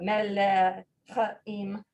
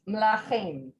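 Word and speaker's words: מלאכים: And part of that is just for ease of pronunciation, because it would be a lot to get out melechim. So it's mlachim.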